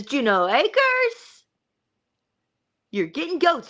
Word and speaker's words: Juneau: Juneau pronounced. Okay, Juneau Acres. Yep. So I am without the D.